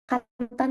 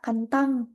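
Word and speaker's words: 簡単: misalkan eh kantantan kan Kantan tuh Kantan na Kantan itu kan belakangnya N enggak dibaca kantang dibacanya Kantan nah Kalian Dengar di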